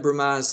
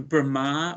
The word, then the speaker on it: Brahma: yeah I just asked did you call him Brahma or Rama uh B for balarama B r a m no sorry